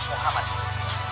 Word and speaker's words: Muhammad: mana lebih dekat dengan muhammadud hebrew English diary mikan dengan yang dicintai seorang yang dirindukan seorang yang terkemuka seorang yang terpuji pengucapan yang benar untuk seorang yang terpuji adalah Muhammad dalam bahasa Arab dan ini adalah kata